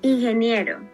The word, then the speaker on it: ingeniero: You talked to the teacher, they corrected your pronunciation. Ok, Chantel, ¿recuerdas este? In Es here, similar. in here, in here, no? No. Ingeniero.